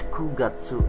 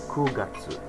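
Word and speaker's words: 九月: bulan 9 atau September kugatsu Nah ya E saya bilang sebelumnya pakainya kalau ketan waktu bukan makanya bulan September atau bulan 9 namanya kugatsu bulan 10 atau Oktober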